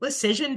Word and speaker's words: Lecision: Lecision, decision, precision, incision. It could go on all day.